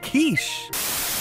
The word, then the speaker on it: quiche: It's pronounced quiche.